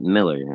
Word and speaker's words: Millar: time but you know he pronounces it Miller which I guess it's